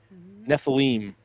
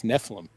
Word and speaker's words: Nephilim: So tonight we're going to be discussing Nephilim, or Nephilim. I've heard it pronounced. So I guess it depends on what part of the world. We're from Kansas, so it's Nephilim.